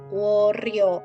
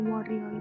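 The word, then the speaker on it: 월요일: Worioil. Irioil. Worioil. Jadi R-nya naik ke samping karena dia vokal.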